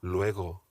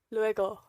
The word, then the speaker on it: luego: re-spanish pronunciation tip here the g in hasta luego is a very soft g it's not lego it's lego lueko luego luego luego lego hasta luego